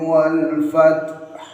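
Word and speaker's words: والفتح: pada akhir ayat 1 bacanya ialah wal fat. Cara bacanya jika diperlambat wal fat. Nah, itu kalau diperlambat. Tapi dibaca cepat wal fat. Setelah taknya disertai hamas, wal fat, hanya diwakafkan, harus ada haknya.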